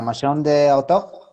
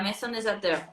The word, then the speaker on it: Maison des Auteurs: me llevo fatal, pero es la Maison de Autor. Sí, la Maison des Auteurs. Auteur.